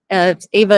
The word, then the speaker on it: EVA: Yeah, Ava Air, Ava is spelled EVA, just so everyone knows.